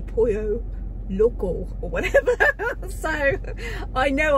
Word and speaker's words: Pollo Loco: at I said Marie it's not Polo Loco it's pronounced a Pollo Loco or whatever so I